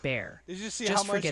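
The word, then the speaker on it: Bexar: Beckar County is pronounced bare blew up and they're still sending you vigorous notes on Zelon, PA.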